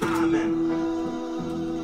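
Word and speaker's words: ámen: Or, how do you say amen in Hungary? Amen, with a little over the A.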